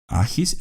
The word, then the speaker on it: Agis: el reino de Esparta agis se escribe a G I ajis el cuarto era el hijo mayor